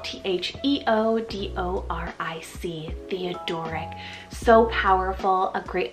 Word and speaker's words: Theodoric: on the boy side we have theodoric spell t-h-e-o-d-o-r-i-c theodoric so powerful a great alternative to Theodore